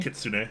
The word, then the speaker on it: Kitsune: how does this Kitsune, is that how it's pronounced? Kitsune. Kitsune, yeah.